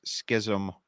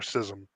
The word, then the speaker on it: schism: you know you pronounce Schism wrong no I've always heard it a schism or sism I've heard it both ways actually okay $5 comes in